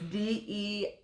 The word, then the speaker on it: Deirdre: I'm probably butchering the pronunciation, but it was the Le Deirdre. So it's Deirdre.